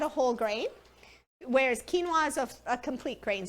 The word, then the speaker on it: quinoa: It's spelled quinoa, but it's pronounced quinoa.